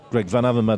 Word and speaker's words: Greg Van Avermaet: details hey whitey uh i heard you have some trouble with pronouncing my name it's greg van avermaet manaverman yeah um i think